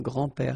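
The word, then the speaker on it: grands-pères: you think about that you don't pronounce this s so actually phonetically it's the same grand pair here and grandpa here okay so let's be honest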